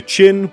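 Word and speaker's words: Qin: very first time finally the name chin spread from Persia to Rome where it was mispronounced as China giving us our West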